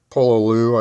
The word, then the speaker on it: Pololu: ordered some pre-crimped ones from pololu i believe is how you pronounce it p-o-l-o-l-u or use just these